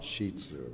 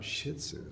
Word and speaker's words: Shih Tzu: is that right yeah they used pronounce them Shih Tzus I said well they do that but you pronounce it shitu that's what you do a lot of people call them shitzu I don't know why the hell they do that even